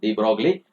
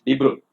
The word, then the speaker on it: de Broglie: We usually pronounce it as de Broglie, but it is de Broglie. That is French pronunciation.